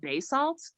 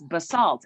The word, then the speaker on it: Basalt: to basalt and that's i thought it was called bay salt and it's basalt and so then i was like so when you guys first of all your your city name rhymes with assaults that's they go so